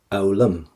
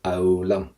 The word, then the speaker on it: fhoghlaim: A fhoghlaim. We do not pronounce the FH in Irish, and we do not pronounce the GH in the middle of a word. So that's why I say fhoghlaim.